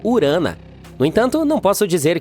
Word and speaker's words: Urano: Bem, estamos chamando Urano de forma errada todo esse tempo. Os astrônomos dizem que deveríamos pronunciá-lo como Urana.